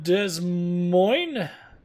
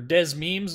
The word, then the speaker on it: Des Moines: So, yep, I'm sure this will be a short match in the Des Moines. Des Moines is actually how it's said, but Des Moines, or Des Memes as some people call it.